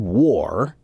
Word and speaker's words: war: so Tabitha the word War is spelled w-a-r but the pronunciation is a lot more like w-o-r war or or War